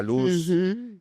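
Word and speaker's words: לוז: Luz, eso es una palabra, eh, pareciera que fuera luz, la luz que ilumina, ¿no?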